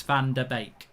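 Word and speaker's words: Van de Beek: might be wrong but i think it's pronounced van der beck rather than van der beek it's bake it's bake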